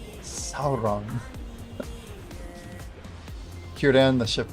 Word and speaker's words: Sauron: It's just like the whole like Sauron versus like Sauron. Like a lot of the old pronunciation, people thought it was Sauron, but there's like actual footage of Tolkien being like Sauron.